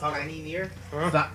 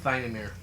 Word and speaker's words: Thinamir: Is this pronounced Tiny Near? Thinamir. Thinamir.